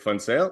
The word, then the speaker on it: Funale: Well, my name is Funale and yes, it is pronounced funale as in it is fun toale.